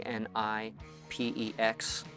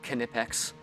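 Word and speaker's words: Knipex: These are from a brand called Kipex. It's spelled K N I P E X and they are really good.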